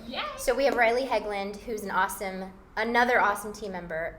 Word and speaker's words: Hegland: Yep, Heglund. I said it right. Yep. Yeah. So we have Riley Heglund, who's another awesome team member on the Marti Hampton real estate team.